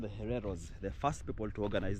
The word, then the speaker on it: Hereros: double sure yes family they were called the hereros the first people to organize the Rebellion so